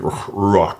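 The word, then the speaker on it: רוח: That's how you say it here. Ruach.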